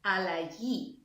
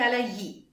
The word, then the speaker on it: αλλαγή: Now I remember the change is η αλλαγή. Sounds a bit like allergy.